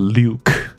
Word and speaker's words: lewk: 那 L E W K 感觉发音比较像 Luke，因为有个字叫 Lew， okay,